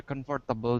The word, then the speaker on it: comfortable: Certainly, it would be more comfortable than the Bell and the Dragon. Just a quick word on pronunciation.